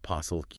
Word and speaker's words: POSLQ: P-O-S-L-Q. Pronounced possil.